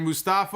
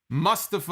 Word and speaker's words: Mustafa: but that's on me we had Mustafa or I guess it's a Mustafa I've been saying it wrong it is Mustafa Ali and man sorigans Angel